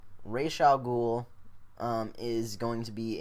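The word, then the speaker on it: Ra's al Ghul: Flash and arrow cherl world I know that Rosal ghoul or actually it's pronounced Ral ghoul rayal ghoul um is going to be in or has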